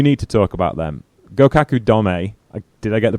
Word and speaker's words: Gokuaku Domei: Gokuaku Domei. Did I get the pronunciation right, Chelsea?